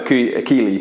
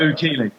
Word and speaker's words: Oukili: So today we've got Samir Oukili. That's how you say it, right? Oukili.